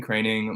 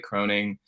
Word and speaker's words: Kroening: my name is craining my last name is pronounced craning even though it looks like croning I I started out